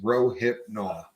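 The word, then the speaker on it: Rohypnol: no mistake people is row hip no right it's three syllables uh I've heard this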